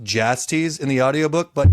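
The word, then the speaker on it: Jastes: By the way, it's pronounced Jasties in the audio book, but Yastes is way more fun.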